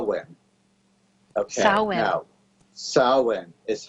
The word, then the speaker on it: Samhain: I pronounce this wrong it doesn't look anything like what it is pronounced okay so when a cow you know soin is how it's pronounced